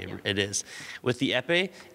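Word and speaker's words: épée: The next one, we call it the epee. That's right. The epee? How do you spell that?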